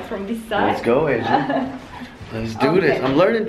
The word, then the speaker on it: Ece: All right, so my dear friend, her name is spelled E-C-E, but in Turkish, the C is a J, right? Yes. So it's Ece.